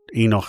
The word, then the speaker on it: Enoch: And we already, and by the way, it's Kano in Hebrew, but Enoch is the way uh it's pronounced in English, and I'll just keep that pronunciation.